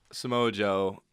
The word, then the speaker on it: Samoa Joe: Just on the name alone, Samoa Joe, I'm pronouncing it right?